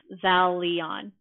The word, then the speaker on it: Xalion: X like a Z, like, or Xalion. Xalion, is that right?